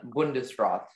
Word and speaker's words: Bundesrat: there any alternate pronunciations there's just the one bundesrat um may have the